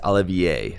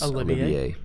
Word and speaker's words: Olivier: Apparently, it's Olivier is how we pronounce Olivier. Olivier is how that name is pronounced.